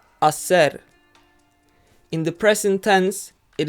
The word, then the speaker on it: hacer: to conjugate the verb Acer in the present tense first of all remember that the H is silent Asser in the present tense